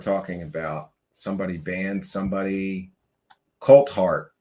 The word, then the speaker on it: Coulthart: Coltart. Yes, his name is Coltart. Did I Did I say it wrong? I always say Colart or Colt Fart. I don't know.